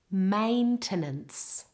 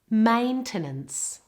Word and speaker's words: maintenance: Maintenance. Maintenance. Maintenance.